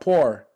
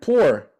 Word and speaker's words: poor: for poor is poor why is it not poor what's the what's the what's the difference uh exaggerated for me if you would Thor and poor uh right how do you say that to me say poor poor oh you're saying the same as door yeah you are I